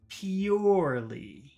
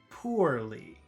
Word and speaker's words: purely: How do you say number 1? Purely. E-E-U. Pew. Pew. Pure. E-E-U. Purely. Purely. Let's compare that to number 2. Poorly. So that's po-war. War. So that middle sound is war.